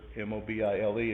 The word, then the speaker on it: mobile: look at the word m-o-b-i-l-e and you think of mobile but mobile is how this is pronounced just like alabama mobile alabama but a mobile is